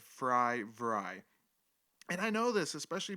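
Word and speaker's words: Vrij: i knew this i i know his name is dick vry but for some reason my stupid brain sees his name and tries to automatically pronounce it how my brain sees it so i've been calling him dick verge his name is his name is dick fry vry with kind of a v instead of fry vry and i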